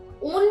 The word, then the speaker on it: ennui: इसे हम ऊन भी बोल के प्रोनाउंस करते हैं।